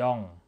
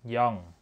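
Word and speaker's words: 영: ตัว เลข G เนี่ย จะ อ่าน ว่า ยอง นะ ครับ ผม ยอง นะ ตัว เลข 1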